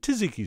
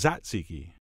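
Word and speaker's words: tzatziki: what we'll do is spread that generously with taziki sauce although I think it's pronounced zat ziki who knows but I do know we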